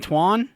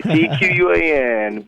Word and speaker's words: Tquan: Oh, kind of like the Q in Tquan? The Q, that's right, exactly. Tquan, but the Q is silent, like a ninja. It's there, but you can't hear The it.